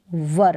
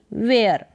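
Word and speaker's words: were: थे हम व्यस्त थे इसको पढ़ेंगे वर ना कि वेयर आई मैं वाज था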